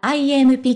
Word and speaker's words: IMP: て登場した MP 初めての投稿では IMP と読みますとのハッシュタグを